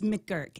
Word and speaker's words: McGurk: It's McGurk. MC Gurk. I think that's what it is.